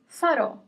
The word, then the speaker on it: farò: Faro, no accent, faro, and the word with the accent is farò. Faro, farò. The first word without the accent means lighthouse. The second word, farò, means I will do, I will make.